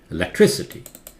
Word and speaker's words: electricity: one yes right electrical this one changes this stress changes electricity electricity electricity this one you is